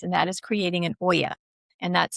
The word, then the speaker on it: olla: very water wise, and that is creating an Oya. And that's spelled Olla.